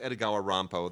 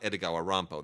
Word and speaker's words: Edogawa Rampo: His name was not Edogawa Rampo. That's like the Japanese pronunciation of Edgar Allan Poe.